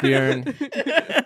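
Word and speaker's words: Björn: It's Bjorn. It rhymes with urine.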